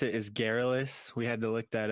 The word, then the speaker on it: Garrulous: to Yeah, so the way you pronounce it is Garrulous.